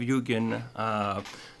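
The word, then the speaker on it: 幽玄: And the meaning of Yugen, 2 syllables in Japanese.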